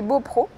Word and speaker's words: Beaupréau: Do you say Beaupréau or Beaupreau? Well, I say Beaupreau. I'm Maugeoise, so I say Beaupreau, but there is an accent on the "e".